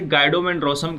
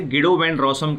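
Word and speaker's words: Guido van Rossum: Python was created by गिडो वैन रॉसम। आप यहाँ पर इस नाम को कई तरीके से प्रोनाउंस कर सकते हैं। कुछ लोग इसे गाइडो वैन रॉसम कह के चल रहे होते हैं और कुछ लोग इसे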